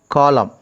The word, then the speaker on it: column: Next word is column. For example, which is the silent letter here? Column. Please understand. Ninth one is column. N is silent.